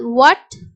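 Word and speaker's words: what: வந்து ஹச் வந்து silent for example வாட் when Y சோ வாட் அப்படிங்கறது யு அட் வாட் when you ஏ சோ இங்க எல்லாமே ஹச் வந்து சைலென்ட் ஃபர்ஸ்ட் ரூல் உங்களுக்கு உங்களுக்கு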